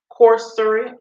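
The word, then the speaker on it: Coursera: go to Corsica or cor what is called corser corser corser let me spell it for y'all because of my P pronounce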